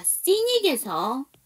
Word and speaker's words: scenic: 자, scenic에서 C가 묵음이에요.